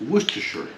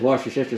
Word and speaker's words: Worcestershire: do you pronounce that the correct pronunciation enunciation is worcestershire worcestershire worcestershire what's the shower seashell said worcestershire there was a guy that says wash your sister sauce yeah no that's uh